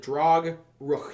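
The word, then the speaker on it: Drogrukh: um then we have the um drog ruk I think how you pronounce it drog Rook yeah d r o g r u k h drog R um big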